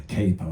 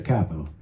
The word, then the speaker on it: capo: your capo, right, and that is the way it should be pronounced. It's not K-A-Y-P-O, it's not a capo, it's a capo. It's an Italian word, means head, right?